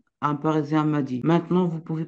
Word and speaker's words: Parisien: parissien c'est un Parisien s entre deux voyelles on prononce ça Z donc c'est un Parisien c'est pas un c'est